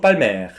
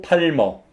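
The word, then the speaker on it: Palmer: 등급에 마지막 y 샤또 빨 매 샤또 발매 굉장히 유명한 와인 2 3등급 중에서 굉장한 퀄리티를 자랑하는 와인인데 우리 식으로 발음하면 샤또 팔머 라고 발음을 하시면 되고요 젤 이 와인을 만든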